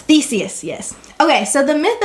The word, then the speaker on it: Theseus: Theseus. Theseus, yes.